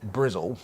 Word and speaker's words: Bristol: there goes that Bristol or sorry brizl because I don't pronounce their t's what else we got